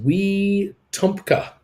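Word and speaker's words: Wetumka: obama uncle bruce pronounced wee tumka long e short a so great to have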